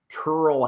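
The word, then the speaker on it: Tyrrell: turtle hatton and that really is how he pronounces his first name also plus 350.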